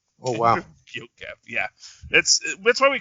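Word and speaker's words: Enver Gjokaj: How am I supposed to pronounce that? Enver Gyokev. Oh, wow. Gyokev, yeah.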